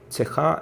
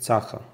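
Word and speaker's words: צחה: Цеха – это чистый. Но наш радиослушатель вместо цеха говорит цаха, допускает ошибку в произношении.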